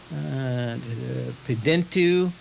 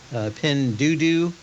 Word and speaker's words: Pinduoduo: Pidentu. How do you pronounce it? Pinduoduo.